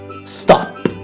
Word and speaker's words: stop: Pet, aspect, stop. Eu não disse stop. Não coloque um som de I após uma consoante final em inglês.